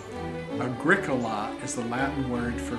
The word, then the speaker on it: agricola: Agricola is the Latin word for farmer. It has four syllables and is accented on the second syllable, much like curriculum.